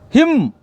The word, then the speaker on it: hymn: N is a silent. Him. We pronounce H-A-M, him, like that.